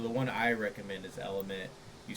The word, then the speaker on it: LMNT: I will say that Yeah, you guys might have to finish this one without me, but just real quick, so Element is spelled LMNT for that brand.